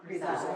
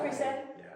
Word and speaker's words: grisaille: I don't hear people pronounce it. Is it grisaille? Grisaille? Grisaille. Grisaille.